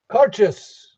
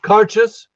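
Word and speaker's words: Càirdeas: So Cairdeas, and it's pronounced Cairdeas, exactly the way it's spelled. No, it's not.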